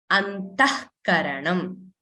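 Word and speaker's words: अन्तःकरणम्: So actually this word here is antaha, visarga karanam. But when we pronounce it as antah karanam. So did you see what is happening? The visarga is not pronounced fully. It is only pronounced half.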